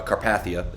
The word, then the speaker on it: Carpathia: the final track uh Carpathia if I pronounce that correctly that yes you did yeah okay does that